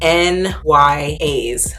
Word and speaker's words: NYAS: it for you guys they are n y a's according to their website this is how you pronounce their brand it stands for not your average size already off to